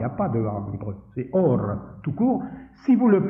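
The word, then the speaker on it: אור: Pardon, on prononce pas le a, il y a pas de aim, c'est or tout court.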